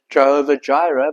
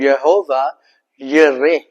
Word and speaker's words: Jehovah Jireh: In the actual Hebrew, we pronounce it as Jehovah Jireh, but in actual Hebrew, it's called Jehovah Yireh.